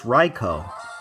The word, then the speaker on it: Raikou: It's a beast, but it's Raikou. Raikou. That's how you say it in Japanese. I got flamed before on that.